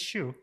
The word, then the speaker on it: Hsu: It's just Hsu. Okay, Hsu. Sorry. Well, it starts with an H, so I wouldn't say, you know.